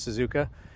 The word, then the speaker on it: Suzuka: I think it was Suzuka.